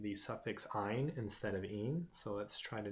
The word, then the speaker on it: yne: Their suffix is YNE for alkyne, so their suffix is pronounced ines.